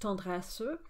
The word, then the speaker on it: tendresse: Or in Duparc's Chanson Triste, you get tendresse at the end of a line, where the mutee gets pronounced, tendresse, but notice that Du Parc has just kept the same note.